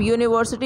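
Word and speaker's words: university: अब यूनिवर्सिटी यू से शुरू हो रहा है, लेकिन यूनिवर्सिटी हम लोग बोल रहे हैं ना, यू वाई ओ यू वाला आ रहा है प्रोनाउंसिएशन, इसलिए हम लोग ओ का इस्तेमाल करेंगे।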